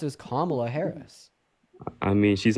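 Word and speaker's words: Kamala: A name that is pronounced as Kla Harris.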